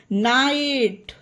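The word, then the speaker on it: night: एक साथ हो तो वहां पर जी एच साइलेंट रहेगा ओके गाइस आगे पढ़ो इसका एग्जांपल नाइट राइट ट अब देखिए सब में जी एचटी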